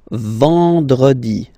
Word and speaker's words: vendredi: Then, E-N, nasal, and it's en, en. So remember, vendredi. Vendredi. Vendredi.